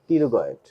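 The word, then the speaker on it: pterygoid: টেরিগয়েডের উচ্চারণের সময় আমাদের টির উচ্চারণ হবে না। লক্ষ্য করে দেখো যেন টি আসছে হলো, তাই না? আছে না? লেটারাল পিটি আর ওয়াই, তাই না? পিটি আর ওয়াই জি ওয়াই ডি, টেরিগয়েড।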